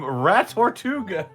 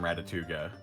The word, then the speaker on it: Ratatuga: The title suggestion was just Greetings from Ratatuga. Okay, got it. Also, bonus points for rhyming with Chattanooga.